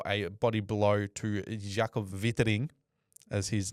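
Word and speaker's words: Weitering: This was given one week for a body blow to Jacob Viting as his name is actually pronounced.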